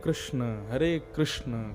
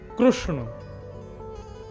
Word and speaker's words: कृष्ण: नहीं, हरे कृष्ण कृष्ण कृष्ण हरे हरे, हरे राम राम राम हरे हरे। कृष्ण शब्द बहुत लोग अशुद्ध बोलते, कई लोग वो कृष्णा बोलेंगे, कई किशन बोलेंगे, कई कृष्ण बोलेंगे, कई कृष्ण पता ही